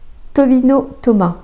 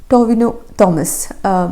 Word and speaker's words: ടൊവിനോ തോമസ്: 4ാമത്തേത് ടൊവിനോ ടൊമ. ടൊവിനോ തോമസ്.